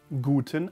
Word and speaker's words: Gute: Gute, gu, like gu, gu, gu, gute, t, and then Nacht.